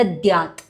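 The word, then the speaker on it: दद्यात्: So here in the second line, the Dadyat, mistakenly I pronounced the second one as a dha stress, so do not stress the dha. The Dadyat.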